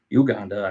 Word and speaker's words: Uganda: Uganda actually is the way you pronounce it, and it was on